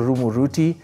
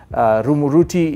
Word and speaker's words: Rumuruti: Rumuruti, even on the map today, is spelled R-U-M-U-R-U-T-I, Rumuruti. Sounds like a Kikuyu name, except it's a literal corruption of an English word or English phrase, the remote route.